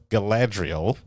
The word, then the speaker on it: Galadriel: guys i was playing the role of young galadriel ah no i'm not about this gala you